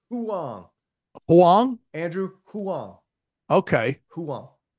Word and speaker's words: Huang: send you this link I um Huang it's pronounced Huang Huang Andrew Huang okay Huang cool so he's